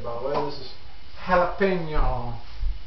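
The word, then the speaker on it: jalapeño: This is jalapeno.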